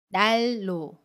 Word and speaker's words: 난로: 음미 우리 오는 경우입니다 난로를 보면 갇힘 리 은 뒤에 첫소리 자 은밀히 옵니다 그러면 받침이 은 으 밀로 발음 해요 그래서 날로 날로 라고 발음 해요 아침이 은을 리얼로 발음합니다